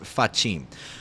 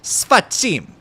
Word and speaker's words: sfacim: A really bad, naughty word, off pronounced. Facim. Sfacim.